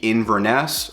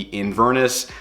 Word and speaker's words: Inverness: one of which is the Inverness or the Inverness. Again, however you want to pronounce it, we hear it called both.